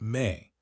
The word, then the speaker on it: me: The MI, pronounced may were divine powers or principles that governed every aspect of civilization.